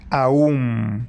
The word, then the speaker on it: Om: El Om está compuesto de 3 letras, A, U y M, Aum.